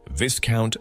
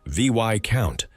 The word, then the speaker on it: Viscount: Rank number 8, Viscount, Viscountess, the middlemen. Climbing to rank number 8, Viscount and Viscountess, pronounced VY Count, not VIS Count.